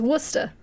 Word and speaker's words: Worcester: yeah yeah if you're if you're from boston and you are pronouncing worcester it's worcester he doesn't have an